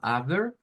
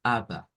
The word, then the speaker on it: aber: un shua pues entonces en el Alemán pasa algo parecido cuando las seres están al final tienden a no sonar o sea en vez de eso sonar como aber lo suenan como Aba AB con un son sonido a más o menos aquí al final en vez de un